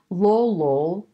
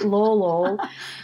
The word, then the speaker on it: Lolol: in colchagua valley and but lolo when you spell it out is l-o-l-o so like it's just laughing out loud a couple times right lolol in the kolchagawa valley